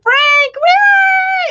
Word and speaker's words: Phranc: I'm Phranc with a PH and a hard C.